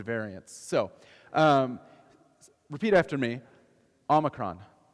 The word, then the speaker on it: Omicron: I can also correct people's pronunciations of the different COVID variants. So, repeat after me. Omicron. Omicron.